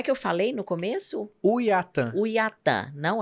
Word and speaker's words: Uaitã: Uiatã. Uiatã, não é. Aí você falou, fala assim que dá certo. Como é que é? É só lembrar como mineiro escolhe companhia aérea. Que é o Uiatã.